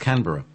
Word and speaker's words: Canberra: It's pronounced Canberra.